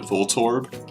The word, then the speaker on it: Voltorb: many people pronounce it Voltorb like as in Vol and torb well its name is actually just volt and orb so we should be pronouncing it volt orb or Voltorb not inside